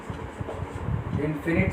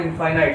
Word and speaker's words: infinite: Infinite solutions. So note the pronunciation of this word. It is not infinite, it is infinite.